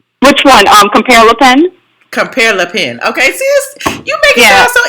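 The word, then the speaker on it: Compère Lapin: Compare Le Pen.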